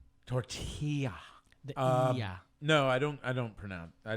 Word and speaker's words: tortilla: or something or took Tortelli or tilith do you like go ahead and say excuse me sir it's tortilla you gotta make the Y sound tortilla yeah no I don't